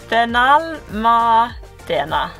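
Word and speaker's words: Benalmádena: I think I said it wrong again, yes. Benalmandena.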